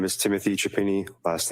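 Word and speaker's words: Chiappini: My name is Timothy Chapini. Last name is spelled C H I A P as in Peter.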